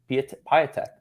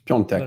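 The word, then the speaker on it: Piątek: How did you say his name? Piatek. Whatever. It's Piontek.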